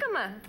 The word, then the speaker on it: jicama: And jicama. Yeah, well, yes. No, jicama, I'm not... It's spelt with a J.